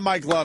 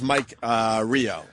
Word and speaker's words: Mike Rio: By the way, it's not Mike Love. It's Mike Rio. Yes, I got his name wrong.